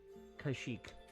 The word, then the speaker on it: Kashyyyk: Kashyyyk. Yeah, it's spelled really weird. Kashyyk. But yeah, it's said Kashyyyk.